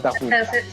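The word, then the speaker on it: Tarrou: Se escribe Tarru, pero se pronuncia Tahu.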